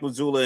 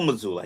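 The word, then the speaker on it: Mazzulla: Jason and testament to Mike Mazoula and his uh I keep I know I'm saying his name wrong. Is it Joe Mazula? Joe Mazula. I keep saying Mike Mazula for some reason.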